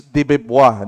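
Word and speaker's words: de Beauvoir: This is no other than Simon de Bevois. Other pronounces deb. Pero ang normally nakikita ko sa YouTube is Dibua.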